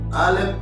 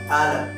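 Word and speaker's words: א: ஆலப் அல்லேலூயா. அதனுடைய உச்சரிப்பு சவுண்ட் நீங்க பார்த்துப்பீங்க. அதுல ஒரு சவுண்ட் கிடையாது, சைலண்ட் வேர்டு. அல்லேலூயா.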